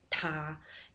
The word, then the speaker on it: 他: So in Chinese, him and her is pronounced the same. Ta.